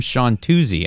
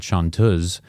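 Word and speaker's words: chanteuse: what is that wow turns out it is a travesty of an Americanized pronunciation of the French word chantuz which means singer especially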